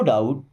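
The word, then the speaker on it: doubt: नो डाउट, no means होता है नहीं, डाउट का मतलब कोई शक होना, अब यहाँ पे बी साइलेंट है ना, नो डाउट मीन्स कोई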